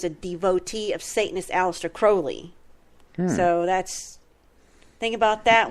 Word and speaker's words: Crowley: name by the way Crowley renamed himself because he wanted it to rhyme with holy but you know be you know an inversion of that so you know he's